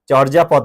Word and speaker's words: চর্যাপদ: তবে বাংলা সাহিত্যের একমাত্র এবং আদি নিদর্শন আমাদের কি, চর্যাপদ না, চর্যাপদ। হ্যাঁ, চর্যাপদ। ঠিক আছে, ওকে, এটির উচ্চারণ আমি করে দিচ্ছি, এই যে চোর যা পদ।